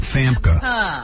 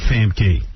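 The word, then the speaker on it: Famke: Fama. It's a fam key.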